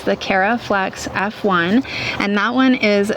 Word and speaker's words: Caraflex: That one is the Caraflex F1. So it's very similar to my name only it's spelled with a C instead of a K. So it's the Caraflex F1 and that one is 75 days.